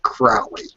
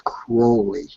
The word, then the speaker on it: Crowley: Remember that, not Crowley. It's Crowley. His name is Crowley. Crowley. And people keep pronouncing it Crowley.